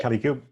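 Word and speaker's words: Kalicube: Okay, so Jason Barnard is the founder and CEO of CaliQ. Am I right? Am I pronouncing it right? Okay. So Yep, Kelly Cube.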